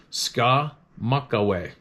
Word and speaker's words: Skamokawa: of spruce out of skamokawa out of skamokawa Washington pronounced SCA Maka why didn't they spell